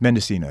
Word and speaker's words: Mendocino: Mendocino, yeah.